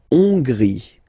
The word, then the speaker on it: Hongrie: La Hongrie. So remember, H doesn't exist, so you don't pronounce it. So it starts with on, and then gris. Final not pronounced.